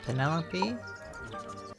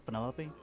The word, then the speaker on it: Penelope: Is that short for Penelope? Oh, this is Officially, Penny. yes, but I never can be bothered with all 4 syllables of it.